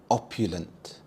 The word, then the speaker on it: opulent: Opulent. Opulent. The stress is on the first syllable opulent.